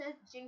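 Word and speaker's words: djinn: Design को pronounce जिन किया जाता है।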